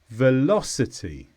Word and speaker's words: velocity: is a noun and the stress is on law velocity and this simply means